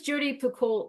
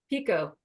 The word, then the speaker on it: Picoult: here, and you'll feel as like, what does Jodi Picoult say here? Is that how you say her name? I should know this. Jodi Picoult? Pico.